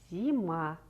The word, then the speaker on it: зима: Конечно, это слово «зима». Произнесите это слово. Зима. Ударение падает на второй слог, то есть на звук А.